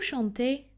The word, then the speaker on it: chante: Vous chantez, you sing. And il chante, elle chante. Notice that the ending on the final two pronouns is silent.